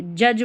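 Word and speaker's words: judge: पूरे डी जी का उच्चारण ज। यानी कि पूरा ये जो डी जी है इसको ज पढ़ देते हैं। जैसे यहां पर है डी जी। तो क्या पढ़ेंगे? जज पढ़ेंगे।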